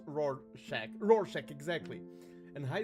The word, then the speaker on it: Rorschach: Rorschach, pronounced Rorschach.